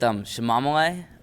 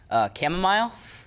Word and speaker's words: chamomile: I'm gonna have to go with Shamamale. Shamamale. It is my I think it was either my sister or my mom who mispronounced it. Chamomile. Oh. Misread the tea box.